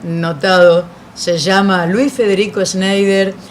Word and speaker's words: Schneider: me estaba contando la historia de los primeros sneider Cómo se pronuncia el apellido primero Schneider es alemán suizo el apellido es alemán pero